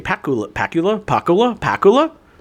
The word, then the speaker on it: Pakula: Pacula. Sure. Pacula. Anyway, Pacula. Pula. Alan J. Pacula. Pula. Pakula.